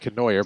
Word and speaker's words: Canoyer: Looks like Canoyer, but I heard it pronounced Conyer over the PA.